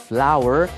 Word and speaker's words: flour: Glue something back on。这时候的 glue 是当动词的，你可不可以用胶水把它粘回去？动词也是用 glue。哎呦，其实也没有那么可怕哈。It's just flour and water. Flour and water 就是花跟水咯，不会吧？怎么会是花跟水呢？但是 flour 在这里拼音是 flour，flour 是面粉，它跟花的那个字发音是一样的哈。花是 flower，flour and water。所以呢，把面粉跟水和在一起就制成什么呢？其实不能叫胶水啦，应该叫做浆糊哈。所以这样的一个用法是 flour and water make glue。所以呢，把面粉跟水和在一起，可以用来制造这种胶的东西，黏黏的东西就叫胶水或者是浆糊。浆糊另外有一个字叫 paste。Yeah, kind of 类似啦哈，不是真正的胶水，是 paste.